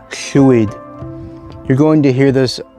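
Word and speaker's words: llwyd: aware of this sweet it's where the name in english lloyd comes from it's a welsh borrowing that was well butchered but chewy one also that i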